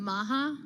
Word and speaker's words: MAHA: make America healthy again Maha is that how you say it yeah okay how would you say it I didn't know if the H was silent no no that would just be ma no make America healthy